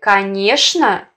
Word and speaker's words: конечно: В слове «конечно» нормативным является произношение «шн», а не «чн».